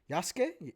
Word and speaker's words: Yasuke: Yasuke? No, it says Suke. Yasuke. Yeah, I know that's how it's spelled, but that's not how you say it.